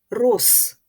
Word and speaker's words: роз: увагу на префікси розтревожити префікс роз перед глухою вимовляється як Рос Отже в цьому слові